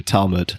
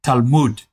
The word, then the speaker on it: Talmud: If you're an American, you're saying it correctly. An Israeli would say Talmud.